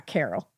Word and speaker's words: Caryl: Yeah, Carol. Oh. Um, and it's Carol K. Uh, C A R Y L.